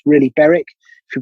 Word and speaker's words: Berwick: nomads roger veer for example i imagine jeff beric's done the same berwick as you pronounce it but it's really beric if you pronounce it correctly i'll let him